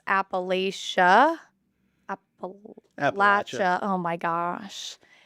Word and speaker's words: Appalachia: Appalachia. Oh my gosh. The saying is if you say Appalachia, we'll throw an apple at you. So that's how you remember to say Appalachia.